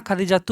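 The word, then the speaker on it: خديجةُ: নাম খাদিজাতুন খাদিজা এখানে তুন বলা যাবে না খাদিজাতু বলতে হবে ইসমুকি খাদিজাতু আপনার নাম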